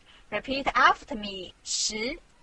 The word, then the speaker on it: 十: This is its syllable, 十. Repeat after me, 十.